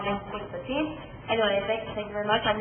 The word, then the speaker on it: Qwick15: Like I said, just call me Qwick15. Anyway, thank you very much. I know it's spelled wrong. That name was already taken, so I added the W instead of U. Pronounce it the same way.